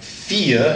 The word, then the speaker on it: vier: But when it switches, you're going to pronounce the E, so it'd be like vier, and a V normally has the sound of an F, so it's vier, almost like an F.